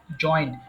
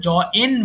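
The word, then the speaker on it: join: জয়েন, জয়েন্ট, জয়েন্ট। তবে এটার উচ্চারণটা বেশিরভাগ ক্ষেত্রে আমরা জ এন বলি, এটা হবে জ ইন, জয়েন।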